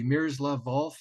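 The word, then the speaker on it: Miroslav Volf: in I'm hoping I'm pronouncing his name correctly mirrors love valve at Yale you pronounced it correctly yes who does uh you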